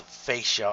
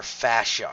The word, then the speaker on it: fascia: it with connective tissue called fascia or fashion you can pronounce it either way so let's move from